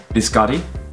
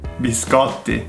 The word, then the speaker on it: biscotti: So here you will see a pattern of double T's that are not actually pronounced, or in American English they turn into a D for some weird reason, and that's not the case. Like, double T is double T, T.